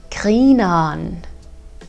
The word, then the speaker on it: grineren: So the first expression I want to teach you is grineren. Grineren. And here, pay attention to the pronunciation of the ending, because the ending is something that will repeat itself in the other slang expressions.